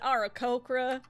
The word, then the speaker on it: Aarakocra: Oh, that there internet, it's pronounced Aarakocra.